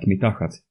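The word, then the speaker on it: מתחת: For example, if a chet is the last letter of a word, it is pronounced as ach, like ruach or sholeach, but if it's not the last letter in the word, it's pronounced as cha, like mitachat.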